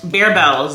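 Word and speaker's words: Barebells: but the thing about these um bear Bells is actually how you say it is they don't taste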